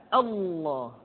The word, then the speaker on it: Allah: Allah di manapun kapanpun maka lam yang terdapat pada lafzul jalalah tersebut mesti ditebalkan Allah Rasulullah kecuali kalau lafaz